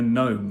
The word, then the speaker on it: gnome: You mean a gnome? What's vis? Oh, you don't pronounce it. Well, it's a silent letter.